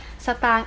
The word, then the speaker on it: สตางค์: คะ ตัว อย่าง เช่น คำ ว่า สตางค์ สตางค์ อ่าน ว่า สตางค์ ตัว คอ ควาย การัน ใช่ ไหม คะ อ่ะ